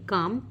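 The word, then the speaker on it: calm: इनमें से किस वर्ड में एक साइलेंट लेटर छुपा हुआ है। तो हमें वो बताना है। बताइए, काम, क्योर, फोन या फिर बट।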